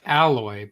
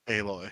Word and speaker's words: Aloy: is aloy or alloy it's spelled like alloy but it's aloy pronounced aloy that's yeah it's [